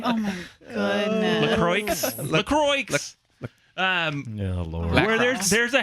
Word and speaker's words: LaCroix: La Croquis. Oh my goodness. LaCroix.